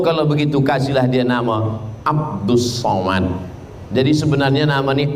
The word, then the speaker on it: Abdul Somad: Somad jadi sebenarnya Nam Abdus Somad tapi kemudian ditulis dengan Abdul Somad banyak jemah yang kata nama Ustaz ni salah kata saya nama saya tak salah awak yang salah baca tulisannya Abdul Somad tapi membacanya adalah ABD Somad ah jadi nama ini